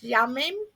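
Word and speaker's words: ימים: I probably screwed up the pronunciation but it's yamim which is y am I am this signifies the entirety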